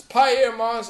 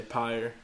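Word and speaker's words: Pyer Moss: It's Pierre Moss. I've heard people say it like that. I always just say Pyre.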